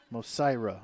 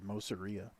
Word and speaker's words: Mosira: Number 16, Kayla Beaver, Tanya Macholi, Faith Mosira. I said it wrong over the PA, I'm pretty sure. I said Mosiria.